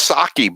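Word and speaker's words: Psaki: loved the answer from saki is how you say it howie i feel like i keep saying her name wrong yeah it's it's sake but i caught i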